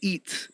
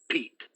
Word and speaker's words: Pete: on your back uh the name is pete thank you very much well the with the with the p pronunciation eats yes yes yes mr eat eat eat with a pee oh okay so peace